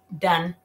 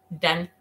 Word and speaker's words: done: para con la letra con la lengua para arriba.